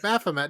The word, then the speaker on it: Baphomet: Baphomet.